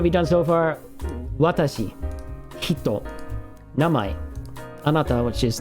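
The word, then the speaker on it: 人: Kata, Minna, Chan, Kun, Jin, which is another way to pronounce the same kanji for hito.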